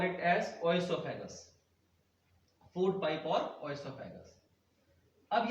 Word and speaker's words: oesophagus: अब कोई इसको ईसोफेगस प्रोनाउंस कर, ओ साइलेंट है, कोई इसको ओएसोफेगस प्रोनाउंस करता है, वो अपनी अपनी प्रोनाउंसिएशन पे है कि हम उसको कैसे स्पेल आउट करते हैं।